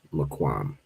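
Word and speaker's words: מקום: I think this is the one that it shows, but you pronounce this as just Maquam.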